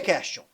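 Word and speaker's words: quaestio: Por que question? Porque question lembra questionar, porque em latim se pronuncia questio, e em latim question quer dizer o quê?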